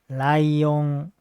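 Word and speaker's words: ライオン: This word doesn't have the fall of pitch. So this is pronounced as lion. It's flat. Lion.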